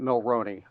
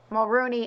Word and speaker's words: Mulroney: think I misspoke Dermot Mulroney I think I said Mulrooney and I thought Dylan